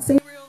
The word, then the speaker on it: Sabriel: my favorite book is sabriel of course i pronounce it sabriel but i'm not going to split hairs over